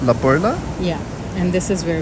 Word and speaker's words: La Perla: Oh, so it's spelled La Perla, but I think they pronounce it La Perla.